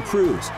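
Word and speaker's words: krewe: Behind the 1,200 floats and 588 marching bands are 60 parading crews, private organizations with names like Bacchus, Orpheus, Endymion, Zulu, and Rex, who put on the party. Crew is spelled K-R-E-W-E, crew.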